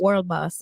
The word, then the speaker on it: World Boss: World Boss. Yeah. Okay. No D, guys. If you use a D, you're a loser.